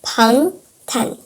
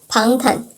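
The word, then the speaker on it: 방탄: So yes, it reads as pang tan. Pang tan. If you spell it out, it actually reads that as well.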